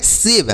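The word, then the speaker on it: save: शव एस एवी ई शव पढ़ेंगे ऐसे पढ़ेंगे सेव अ सेव मतलब क्या होता है बचाना सेव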